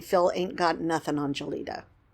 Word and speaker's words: Gelida: Punxsutawney Phil ain't got nothing on Gelida, or Gelida, to say her name correctly.